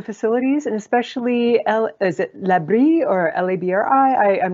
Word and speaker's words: LaBRI: Can you mention a little bit more about the facilities, and especially is it Labri or L-A-B-R-I? I'm not sure how you pronounce that.